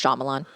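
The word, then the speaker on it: Shyamalan: a sh I was forget about the why in his last name it's just shamalan I know but the Y is silent fine but Shan Shan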